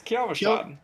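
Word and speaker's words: Kyovashad: It's Kjolfshad.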